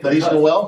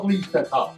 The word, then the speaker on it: Feliz Natal: Is that how you say it? Feliz Noel? Feliz Natal.